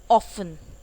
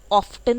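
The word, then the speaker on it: often: ऑफन, ऑफ्टन नहीं बोलते हैं, ऑफन इज अक्सर।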